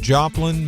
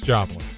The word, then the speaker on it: Joplin: I believe it's pronounced Joplain, Missouri. I think it's Joplain. Isn't it Joplain? Like it's Joplin.